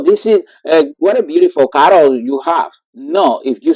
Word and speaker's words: caro: Can you pronounce that one? Caro, caro. Oh, like, oh, I think that in English you would say Carol. So is that pronunciation like we said the name Carol?